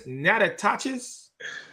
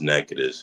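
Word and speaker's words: Natchitoches: How do I say this? Natachis. Um, it's pronounced Nacades.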